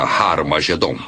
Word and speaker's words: Harmagedom: escritas em grego Armagedom tem o som aspirado no início que significa que era pronunciada com H Originalmente era harmagedom e é muito fácil